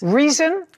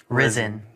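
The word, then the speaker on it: Rizin: Reason. Risen. Risen. Spell it.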